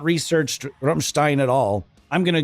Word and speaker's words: Rammstein: don't want to be that guy that calls the band Ramstein. I just think, why don't you just become that person that calls it die ant word? I can't do it. I have to pronounce things phonetically in the way that they're supposed to be pronounced. I just can't do that. I can't go out like that. So, we're going to be saying Rummstein.